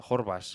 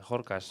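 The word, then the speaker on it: Horkaš: un partido en el que eh, ¿cómo se pronuncia el eh Jorbas? Eh, Jorcas, Jorcas, el portero de Las Palmas, eh teóricamente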